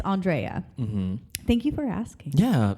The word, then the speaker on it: Andrea: i've already we've gotten it all but it's andrea thank you for asking yeah because we have